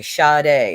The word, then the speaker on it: Sade: Okay, Sade is how you say it.